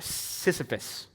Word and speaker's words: Sisyphus: or the name I gotta say it right Sisyphus probably hadn't heard some of you might have Sisyphus which um it's not like a message on